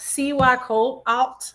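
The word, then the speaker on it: Cihuacōātl: Um, so it's pronounced C Y Colt Alt.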